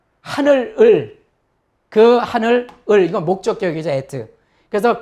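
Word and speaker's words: את: 그 다음에 알렙에 지금 점 두 개 에가 있는 거죠. 그래서 이응이니까 에, 그 다음에 타브니까 트. 그래서 여기 그냥 붙여준 거죠. 티귿에 에트.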